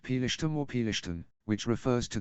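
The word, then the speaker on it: פלשתים: The term Palestine has connections to the ancient Hebrew term, pronounced Pelishtim or Pelishtin, which refers to the Philistines, an ancient people who inhabited the southern coastal region of the Levant.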